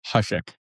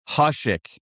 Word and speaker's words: Hushek: Hushek. Hushek. Okay. I always thought there was an L.